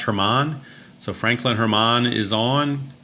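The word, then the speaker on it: Germán: in ay anyway okay I would call him Franklin German but I'm pretty sure it's pronounced Hermon so Franklin Hermon is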